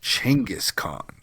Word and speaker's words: Genghis Khan: thinking I said he said chingus Khan It's Genghis Khan no no in reality in the people of Mongolia say it is pronounced chengis Khan and he said he talks about it in